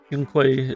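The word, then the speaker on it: Yunkui: Yunquei is just how you remember the character saying. Yeah, it is how they say it.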